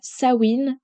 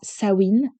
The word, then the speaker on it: Samhain: fête préférée, qui est la fête de Samhain ou bien Samhain. Je vous l'ai dit avec les deux prononciations pour que vous puissiez peut-être la reconnaître en fonction de vous, comment vous la prononcez. Mais pour moi, ce sera Samhain.